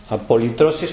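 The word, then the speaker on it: ἀπολύτρωσις: La palabra redención en griego es apolutrosis, tal como suena, apolitrosis, pero con Y.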